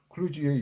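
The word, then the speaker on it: kludge: 클루지를 제대로 발음하면 슬러지가 아니라 휴지가에 가깝다.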